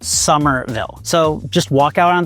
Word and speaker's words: Somerville: Here, it's pronounced Somerville.